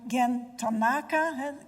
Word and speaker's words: Gen Tanaka: And you're Gen Tanaka, klemtoon op de tweede lettergreep, from Japan.